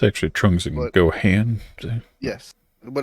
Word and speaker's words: Gohan: did it too it's actually trunks you can go hand yes but it's pronounced Gohan yeah it's Goku's son and Vegeta's